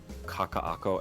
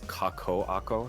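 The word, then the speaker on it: Kakaʻako: Kakak oh you like people mispronounce Kaka AKO as kako AKO have you heard that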